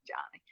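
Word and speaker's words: Joni: to be a girl so it's j o n i but they pronounce it Johnny so her sister finally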